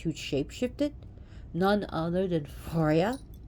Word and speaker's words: Freya: shape-shifted none other than forya actually pronounce Freya here but that was it's